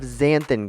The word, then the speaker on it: xanthan: It's a/4 teaspoon of zanthan gum and it's spelled x a n t h a n.